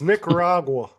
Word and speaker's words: Nicaragua: flying those missions in Nicaragua during the Iran Contra in Don't say it like Kalamazoo, that. Ohio. It's Nicaragua.